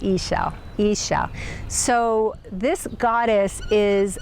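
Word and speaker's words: Ixchel: a Mayan background and they said she said ISA ISA so this goddess is a goddess of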